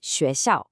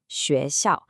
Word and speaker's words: xuéxiào: Next, let's look at the x sound in xuéxiào, xuéxiào. This is a classic challenge. It is not the English sh sound. It's much softer, it's a higher pitch sound.